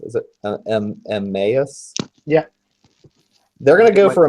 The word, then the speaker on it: Emmaus: The other two mooks are gonna just go for how's that pronounced? Is it Emmaus?